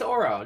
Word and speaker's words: Oro: This has been Orokani and or how do you say your name? I'm sorry. Orokani. Yeah, I'm not right. Oh, it's Oro. Just Oro. Oro. It's just Oro. It's just Oro. But folks, thank you again for tuning in.